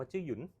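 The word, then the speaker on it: Zhiyun: แบรนด์ นึง จะ เรียก ว่า ออก เสียง ว่า จื้อ หยุน จื้อ หยุน นะ ครับ อ่า จริง ๆ แล้ว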